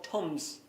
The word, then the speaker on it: thumbs: toms a show of toms toms for anybody in the uk some of us don't pronounce our h is over here in ireland tums a show